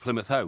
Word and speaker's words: Plymouth Hoe: And it goes on about Plymouth Hoe and are you sleeping down below rhymes with Plymouth Hoe because of course he was playing bowls on Plymouth Ho when the Spanish Armada came.